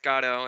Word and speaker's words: Godot: ghado's mask is it godot origato gotta gotta okay because so in french it's pronounced gato and his whole thing is waiting for gato because of his you